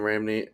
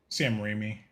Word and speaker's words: Raimi: But I think what bugged me a lot was it's like I love Sam Raimi, or I always say his name wrong. Sam Raimi.